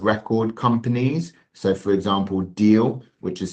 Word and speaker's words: Deel: So for example, Deal, which is spelled DEEL.